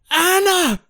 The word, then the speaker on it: Anna: Anna!